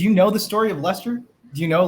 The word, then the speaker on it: Leicester: So no, by the way, you guys are saying it wrong. It's actually Leicester.